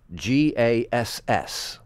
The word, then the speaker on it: Gase: ago you were Buchan gase Gass because you know bass is spelled Vass right then the